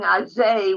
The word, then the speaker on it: azoy: Azoy is this. Okay. Cookie, I saw that you raised your hand before. That's what I wanted to ask. Why are they saying azay when the word is azoy?